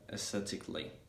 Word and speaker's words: aesthetically: And one case in which at the beginning of the word the letter A is silent is aesthetic and aesthetically, in which let's say at the beginning is silent and the letter A in the middle end is also silent. Yeah, aesthetically.